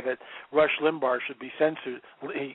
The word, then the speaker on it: Limbaugh: to say that rush limbaugh should be censored he pronounced it rush limbaugh instead of Limbaugh I just love that